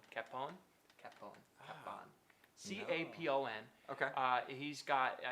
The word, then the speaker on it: Capon: Robert Capon. Capon.